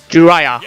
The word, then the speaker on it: Jiraiya: Jiraiya. Okay, that's how you pronounce his name.